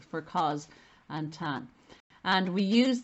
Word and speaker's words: cos: tan so the causes the cosine is pronounced as if it's a z for cos and tan and we